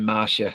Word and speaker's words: Masha: Is a character's name Masha? Marsha, is it? Is it Marsha? It's spelt Masha. They're saying Marsha.